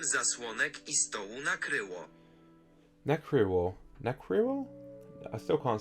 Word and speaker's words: nakryło: means covered, apparently, nakryło, I don't know why it's like the K-R-Y w sound that's like messing me up, I guess. Nakryło, because I'm saying quiro, not kryło.